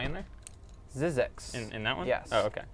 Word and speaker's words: Zzyzx: It's ZZX Road. It's actually a town. ZZX. How do you spell it?